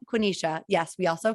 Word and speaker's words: Quenisha: and he started and i was just like quinnisha quinisha yes we also call her cute it's okay